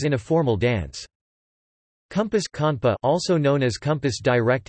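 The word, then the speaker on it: konpa: Compas conpa, also known as compas direct in French, or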